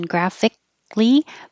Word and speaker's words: graphically: And I have this little mark here to say you don't pronounce the K. Your tongue goes to the K position graphically, but you can pronounce the K if you say clee, graphically. So either way, graphically.